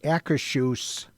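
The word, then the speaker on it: Akershus: it is pronounced the Akashuse Royal Banquet Hall.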